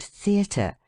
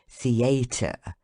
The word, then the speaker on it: theatre: Thus, in the word theatre, the stress of the voice should be on the letter E and first syllable the, and in contrary on the first syllable con. How shocking it is to hear people say contrary, theatre.